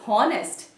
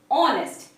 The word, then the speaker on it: honest: Many of them pronounce this as honest. It's horrible, isn't it? But we don't actually, the correct pronunciation is honest, not honest. That is, H is silent, like R.